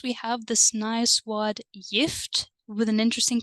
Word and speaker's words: gift: Do you remember why this pronunciation is interesting? That's right, because we have a soft vowel E, right? And when we have a soft vowel E, then the letter G turns into the sound Y.